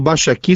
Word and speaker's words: Baixaki: Agora o Baixa Aqui se escreve com K, viu? Esse aqui é BAIXAKI.